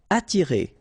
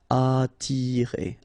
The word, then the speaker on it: attirer: Attirer, okay? Don't pronounce the double T. You only pronounce this. Attirer, attirer.